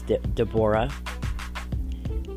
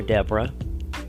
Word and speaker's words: Deborah: There's Deborah, or Deborah, depending on how you want to pronounce her name.